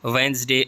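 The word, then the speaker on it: Wednesday: बनाना जी silent है वेनसडे D silent है castle जिसको हम किल्ला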